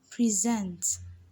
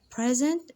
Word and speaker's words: present: what is present and presents present is a noun and present is a verb the vowel sound is strong in the stressed syllable while the vowel sound on the unstressed syllable reduces present present get the